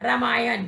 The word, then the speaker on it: रामायण: प्रयोग करेंगे तो शब्द का यह वसंत श्री रामायण कि बच्चों एक शब्द में ना का प्रयोग